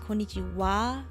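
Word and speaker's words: こんにちは: it on the comments konnichiwa even though konnichiwa is pronounced konichiwa the hiragana here is ha right that's just how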